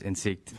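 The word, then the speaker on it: Insikt: CEO in SIG's and it looks like insect but it's pronounced in seat we are a pilot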